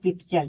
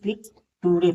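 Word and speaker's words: picture: ई आर ई यानी पिक्चर देखिए टी के बाद यू आर ई दिया है तो इसे हम पिक्चर पढ़ेंगे ना कि पिक टुडे पढ़ेंगे फिर टुडे नहीं इसे पिक्चर पढ़ेंगे बच्चे क्या करते हैं विद्यार्थी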